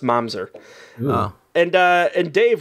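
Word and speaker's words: mamzer: ooh oh manzer man but it is definitely pronounced momser oh and uh and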